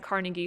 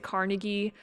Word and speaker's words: Carnegie: And then this is just inside Carnegie Hall in New York. Once again, some people pronounce it Carnegie, others pronounce it Carnegie, so it's the same person.